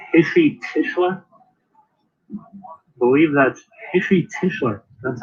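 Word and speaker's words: Heshy Tischler: I believe that's Hishy Tischler.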